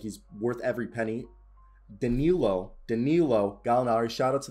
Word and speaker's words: Danilo: say that correctly danilognari i used to say daniello because i actually have a family friend in italy whose name is spelled exactly the same he goes by daniello but it's danilo danilo galinari you know he's looking